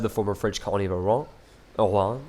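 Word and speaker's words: Oran: former French colony of aonan I believe is how you say it of course oron is in modern day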